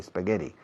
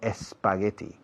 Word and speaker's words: spaghetti: Fijaos en la pronunciación de la SP de spaghetti. No pongo una E delante, no digo spaghetti.